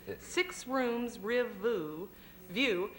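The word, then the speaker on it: Six Rms Riv Vu: a marvelous play that how do you say the title of that's six rooms r view and it's uh uh means six rooms Riverview and it's classified ad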